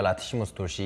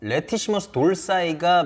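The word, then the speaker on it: latissimus dorsi: 라티시무스 돌시. 이게 레티시머스 돌시라고 알고 있었는데 레티시머스 돌사이가 미국식 발음이고 라티시무스 돌시가 영국식 발음입니다.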